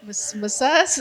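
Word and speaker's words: Maçães: And we have Bruno Macaes. Am I pronouncing it right? Macaes? Okay, great.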